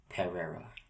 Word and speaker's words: Perera: It's Perera. Perera. Yeah, Perera. Perera. Okay. Or if you want to throw some accent in there, Perera.